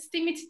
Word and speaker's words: STEAMIT: STEAMIT diye okunuyormuş bu arada.